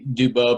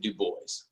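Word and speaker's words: Du Bois: do you say Uh, Typically be Dubois, but he pronounced it Dubois.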